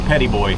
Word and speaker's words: Petit Bois: It's spelled West Petit or something. West Petit Bois, but they say Petit Boy here.